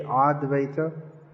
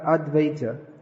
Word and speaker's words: Advaita: at the advaita arch that v in bengali i said that that turns into a butt sound so just like butter butter or banyan tree becomes in bengali but when the verb comes after a consonant then it becomes almost just like after advaita after the advaita in bengali this bengali pronunciation not in sanskrit becomes more or less silent another important point is